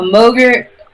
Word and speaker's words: Mogrt: A Mogrt, which rhymes with yogurt.